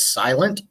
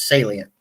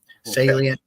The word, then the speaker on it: Salient: the proper pronunciation yeah I see most people actually think it says silent uh but it's it's you said you've said it right right off it's Salient Salient Aquatics and I the